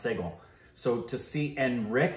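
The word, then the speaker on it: Sehgal: not n s i g a l it's pronounced seal so to see and Rick is actually not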